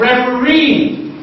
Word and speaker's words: referee: So, in the word like refugee, the last syllable is G, and that is what is stressed. In the word like referee, the last syllable is re, and that is what is stressed.